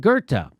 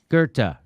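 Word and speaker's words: Goethe: or you did on this show you quoted gerta uh can you spell it g-o-g-e-o-t-h-a i think i think that's it something like that g-o-e-t-h-e gerta very good very good very good i was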